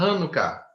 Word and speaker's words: Hanuká: am quem pode celebrar a quem pode Celebrar hanuka ah pronunciado direitinho uma só alg fala Hana acentuado